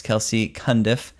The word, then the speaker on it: Kelci Cundiff: And we have Miss Kelsey Kundiff. Am I saying it right? Yep. Okay. I usually mispronounce people's names, so that's good.